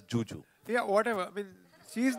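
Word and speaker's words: Zhu Zhu: Nothing was shown of the Chinese actress Zuzu, who's there in the film. Yeah, sorry sir. So it's written as it's written as Zuzu, but she pronounces it as Juju.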